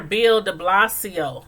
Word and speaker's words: Bill de Blasio: that was uh Mayor Bill DeBlasio I think I'm saying that right did not please correct me but I think it's pronounced bill de blasio de Blas de Blasio okay okay but yeah